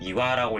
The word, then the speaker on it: 岩: 바위암자가 단독으로 이렇게 탁 나와 있으면 훈독으로 읽힙니다. 그래서 훈독으로 읽을 때는 이화라고 읽힌다고 하는 거를 알아두셨으면 좋겠어요.